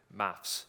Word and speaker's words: maths: I'm British, so maths is the correct pronunciation.